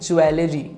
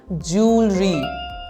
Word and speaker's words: jewelry: pronounce this one well mostly people say it jewelry I love to wear jewelry well this is incorrect the correct pronunciation is jewelry repeat after me jewelry she loves to wear jewelry